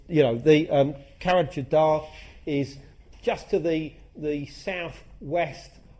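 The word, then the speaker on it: Karacadağ: But more importantly, this is where the revolution began, because at a place called Karajadar, and that's not the way that it's spelt, but that's the way that it's actually pronounced, which is a mountain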